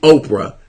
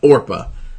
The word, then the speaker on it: Orpah: even pronounce oppa so imagine that that that your name is pronounced wrong so much that people call you Oprah instead of Orpah my god what if